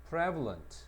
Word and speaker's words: prevalent: 근데 이게 형용사가 되면 앞에 강세를 가. 따라서 프리가 발음이 안 되고 프레로 발음을 해야 돼. prevalent.